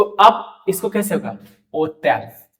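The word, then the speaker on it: hôtel: ओतेल, ओतेल। अब यहां आने से पहले, इस प्रोनाउंसिएशन के पैटर्न पे आने से पहले मैं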